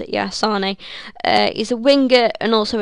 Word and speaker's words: Sané: Next up, we've got none other than Leroy Sané, or I think that's how you pronounce it, yeah, Sané.